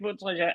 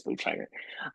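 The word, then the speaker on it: Bontrager: pronounce his name because it's either Yeah. Botreja or Botrager, like he pronounces it. Um, Obviously, we are going to use his Botrager.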